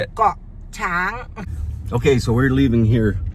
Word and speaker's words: Koh Chang: Koh Chang. Okay, so we're leaving here now at 7:30, and we'll do a bit of the journey to Koh Chang.